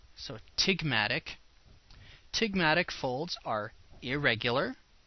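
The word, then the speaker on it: ptygmatic: of a big M tig matic the P is silent so TIG Matic TIG Matic folds are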